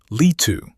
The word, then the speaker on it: Leetu: Lee-two. Lee two. Guilliman, with a hard G.